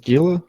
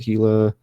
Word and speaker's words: Gila: Some folks want to call it Gila, some want to call it HEEELAH, Hilla, what have you, but it is what it is.